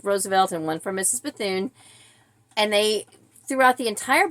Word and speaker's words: Bethune: and then in so the name is bethon b e t h u n e and it's pronounced bethon they were pronouncing it Bethune which maybe just